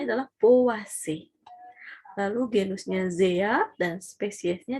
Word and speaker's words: Poaceae: Nah, ini dibacanya adalah Poaceae.